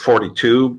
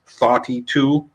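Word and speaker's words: Thoughty2: Well, there's a guy who goes under the name of he pronounces it 42, but in an English Liverpudlian accent, so it comes off as Thoughty-2.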